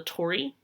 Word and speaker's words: torii: make it their own this right here is called a torii it's T Ori I is how you spell it a torii is